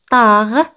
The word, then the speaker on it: tard: Tarde en francés es tard. Tarde no se pronuncia.